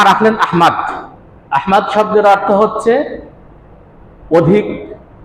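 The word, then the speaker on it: أحمد: হিসেবে না আহমেদ হিসেবে আহমেদ আর আহমদ এটা কি এক উচ্চারণ যদি আমরা নবীজির নাম হিসেবে রাখি তাহলে নবীজির ভালোবাসায় এই শব্দটা বিশুদ্ধ ভাবে রাখা আমাদের কর্তব্য সুতরাং আমরা যদি সন্তানের নাম নবীজির নামে আহমদ রাখি তো আহমাদ রাখা আহমেদ না রাখা আহমেদ ভুল উচ্চারণ আরো এই নামটা আহাম্মদ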